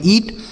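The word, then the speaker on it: eat: इसे पढ़ेंगे ईट।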